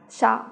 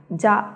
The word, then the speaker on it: 者: đọc là âm oyomi, thì được đọc là sha hoặc là ja biến âm.